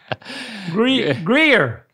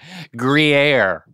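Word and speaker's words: Gruyère: Replace the U with two E's. But keep the R. Gree. Yes. Greegy. Greer. Yes. Greer. Yeah, you're getting there. Greer. Greer.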